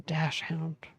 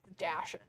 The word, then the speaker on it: dachshund: That's a dash hound. It's actually pronounced dachshund.